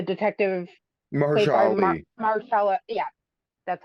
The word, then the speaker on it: Mahershala: Marcella.